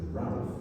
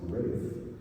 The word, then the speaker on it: Ralph: Um, so Rafe Von Williams, and yes, I know in your programs it looks like it says Ralph, but it's actually pronounced Rafe.